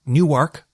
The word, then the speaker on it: Newark: in DC then of course Perryville to Newark Newark gotta pronounce it correctly delawareans you know how they